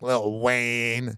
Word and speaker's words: Lil Wayne: you're probably wondering why when I say Lil Wayne I'm saying it like that cuz when you're talking about old school wazy you got to say it like little Wayne if you don't feel